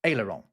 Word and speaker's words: aileron: But I pronounce it in a slightly French way because it is a French word, and it literally just means little wings.